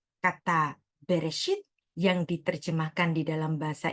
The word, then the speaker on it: Bereshit: Perhatikan, pada Kejadian 1 ayat 1 ini, orang Ibrani tidak membacanya dengan Bareshit, tetapi membacanya dengan Bereshit.